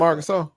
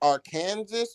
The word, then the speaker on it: Arkansas: didn't fit with that Arkansas razor back. That's me. That's Dro. I'm a Razor back. Oh, okay. You from Arkansas? Yes, sir. I am. Both. Is it pronounced R Kansas or Arkansas? It's Arkansas.